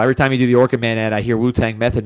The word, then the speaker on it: OrchidMan: Derek Hux gave me that one because people were saying OrchidMan like the exterminator, so I had to spell it out.